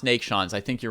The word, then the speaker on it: Neiksans: track of all right i think it should be pronounced nate shawn's i think you're right